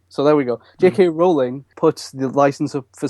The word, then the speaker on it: Rowling: JK Rowling uh not Rowling by the way I learned today that it's pronounced rolling so there we go JK rolling put the license up